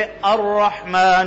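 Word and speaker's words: الرحمن: उसमें क्या हो जाती जैसे अर रहमान रहीम अर रहमान लेकिन लिखने में अर है या अल रहमान है जी पढ़ने में क्या है तो कुछ अल्फाज जिस तरह अंग्रेजी में साइलेंट होते हैं अरबी में भी साइलेंट है कुछ क्या है उनको क्या कहते हैं साइलेंट रो तो वो कवायद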